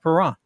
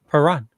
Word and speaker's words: Perron: again next year, just remember the T is silent in chalet, just like Perron. Perron.